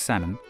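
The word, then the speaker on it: Salmond: leader this man Alex sammon you don't pronounce the L like with the fish became Scotland's first Minister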